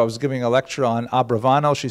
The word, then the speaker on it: Abravanel: to a yeshiva, they'll say Abarbanel. There's a popular song, Abarbanel. Ba ba ba, Abarbanel. You've heard it. But the probably correct, I'm following Netanyahu here, probably correct is Abravanel. That's probably how he pronounced it, more or less, with my Canadian accent.